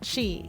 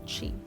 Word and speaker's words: Qi: Qi, yeah, that's how you pronounce it. Qi.